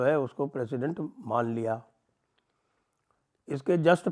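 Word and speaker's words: Houthis: इसके जस्ट पहले 30 दिन तक उसने यह जो हुतीज हैं जिनको हमती कहते हैं अंग्रेजी में वैसे उनका अगर सही प्रोनाउंसिएशन देखा जाए तो वो हाउसी है तो वो जो हाउसीज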